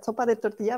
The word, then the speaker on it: sopa de tortilla: Et puis, una sopa de tortilla. Est-ce que je prononce bien, Oui, Cara?